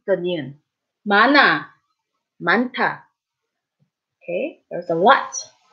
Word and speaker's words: 많아: And remember, although when an 이응 follows, that sound carries over, not when there is 히읗. Remember the 히읗 rule? So in this case, 많아, 많아.